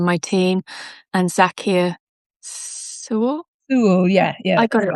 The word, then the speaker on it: Sewell: Sewell, yeah. I got it right. Great. As someone with a name that is not pronounced in English as it's spelt, I always